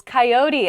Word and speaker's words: coyote: backyard for example sure the next word is coyote i say coyote how do other people say